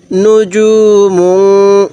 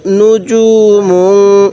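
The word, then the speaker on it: نجوم: ওয়াজিব হয়ে যায় তাহলে নুজুম নুজুম এই জিমটা শক্ত উচ্চারণ করব দালটা একটু নরম করে উচ্চারণ করব তাহলে উচ্চারণ গুলো সহি হবে তাহলে মিম লাগবে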